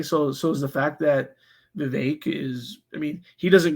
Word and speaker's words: Vivek: debate to properly pronounce Vivek, which he says rhymes with cake.